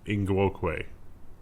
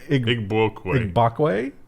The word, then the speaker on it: Igbokwe: Christognagus Ingwokwe. You really didn't get the last one, but Igbokwe. Igbokwe.